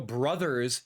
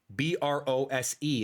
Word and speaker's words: Bros.: Super Mario Brothers Circuit. Don't you dare call it Mario Bros. anymore. Bros. B R O S E is not the pronunciation uh at all.